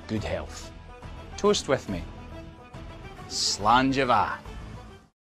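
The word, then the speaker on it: Slàinte mhath: Today's phrase is Slangeva, means good health. Toast with me. Slangeva.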